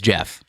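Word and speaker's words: Geoff: is it just g it's jeff spelt with a g which i think is weird personally but but yes he goes by g is it g-e-o-f-f is that what's g-e-o-f-f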